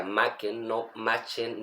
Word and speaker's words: Machen: magistral del autor galés Arthur macken se pronuncia macken imagen un interesante escritor